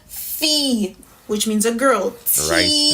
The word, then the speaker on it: fi: I, it's a long E sound, so it's pronounced as E in Creole. Not I, but E. Not an I, like as in T, Fee, which means a girl.